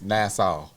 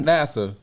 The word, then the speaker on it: Nassau: This is Nassau. Not NASA.